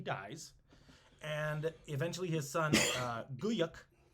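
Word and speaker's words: Güyük: and eventually his son Guyuk, this G-U with 2 dots over it, Y-U with an umlaut over it, and then a K. It's Guyuk.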